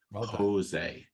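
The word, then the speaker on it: José: over to my colleague Jose I think it was yes that's how to say my name that's right yes Jose got it hi everyone I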